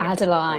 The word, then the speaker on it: Adeline: I'd started writing Adeline already. That's how you say it. You said it right.